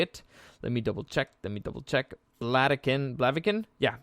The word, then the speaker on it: Blaviken: Blaviken? Yeah, Blaviken.